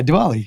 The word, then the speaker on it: Diwali: we celebrate diwali you said it right yeah diwali so can you tell us what it means